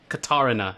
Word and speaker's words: Katarina: let's go get destroy Karina Katarina that's how it's pronounced let's see katar the